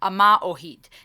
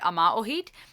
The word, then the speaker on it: Yma o Hyd: If I understand correctly, we pronounce it Ama Ohid.